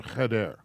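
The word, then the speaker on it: חדר: is a room it's a we're in a heder okay now i got a couple of other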